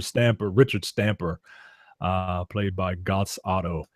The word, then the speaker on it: Götz Otto: Stamper, Richard Stamper, played by Götz Otto. Gertz Otto. You need to learn your German pronunciations.